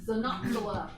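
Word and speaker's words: Xenopsylla: This is Xenoxala, spelled with an X at the front because an X at the front is pronounced with a Z sound.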